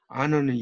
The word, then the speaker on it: honor: honor는 영예죠. 여기서 h는 묵음입니다.